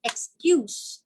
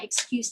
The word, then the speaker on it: excuse: this sound but else excuse if it's used as a noun like this is my excuse letter we pronounce it with an s but if we are